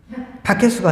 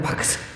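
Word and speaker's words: Bacchus: 그 이름이 바크스예요. 바크스. 바케스가 아니고 바크스. 바카스하고 비슷해 발음이. 바크스.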